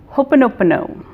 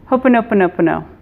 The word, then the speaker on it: Ho'oponopono: Guide, and it's an ancient Hawaiian prayer called Ho'oponopono. That's a lot of syllables. Ho'oponopono.